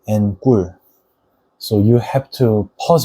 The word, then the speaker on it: 꿀: It sounds like 꿀, which means honey, and 까마귀, which means crow or raven. 까마귀 and 꿀.